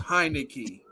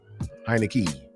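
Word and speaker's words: Heinicke: and it is it is pronounced it is pronounced heinecke heinecke all right like I said we got we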